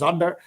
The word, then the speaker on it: Sander: is s uh and in German it's probably pronounced Zander and um uh I'm